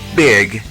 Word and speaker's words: big: la letra e y la letra i juntas y se pronuncia I ye ye como en las palabras Big Big que significa grande